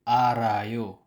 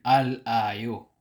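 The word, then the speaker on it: 알아요: initial sound na R halimbawa Al i-add natin ang ayo ang pagbasa nito ay arayo hindi alayo ganito pa rin ang spelling pero ganito siya basahin arayo arayo pero kapag ang kasunod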